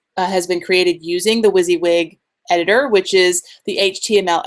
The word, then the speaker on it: WYSIWYG: was to talk about WYSIWYG that's how you pronounce it what WYSIWYG which stands for what you see is what you get everything I have created here has been used has been created using the Wiz wig editor which is the HTML editor I'm assuming